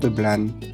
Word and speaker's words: Blanes: Départ de la gare Blan. Et oui, on ne prononce pas le S, c'est la règle ici en Catalogne.